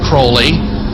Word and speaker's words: Crowley: he likes the prenup had his name pronounced Crowley to rhyme with holy he had so many